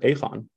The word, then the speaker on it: Aegon: a multi-billion dollar uh by the way Brian even you pronounce it incorrectly are there the people in in the Netherlands pronounce it aphon yeah I know that's